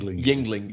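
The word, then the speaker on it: Yuengling: I'm going to murder the name of it, but Youngling. Yingling. Oh, there you go.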